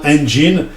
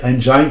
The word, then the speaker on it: engine: Je vous mets juste en garde sur la prononciation du E de engine. En anglais, ça se dit bien engine. Ne faites pas l'erreur de dire engine, ça se prononce pas comme ça.